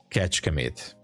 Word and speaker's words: Kecskemét: I can tell you it's called Kecskemét, but it's impossible to pronunciate for you. Kecskemét.